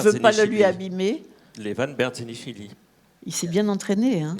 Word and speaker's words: Levan Berdzenichvili: cet après-midi, eh bien, je vais te laisser prononcer le nom de Levan, parce Levan que je ne veux pas le lui abîmer. Levan Berzenishvili.